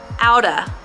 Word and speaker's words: out of: let's practice pronouncing it it sounds like out uh the same uh sound again outa let's say the whole